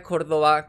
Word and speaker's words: Córdoba: Ahora es Córdoba con B y con acento en la O.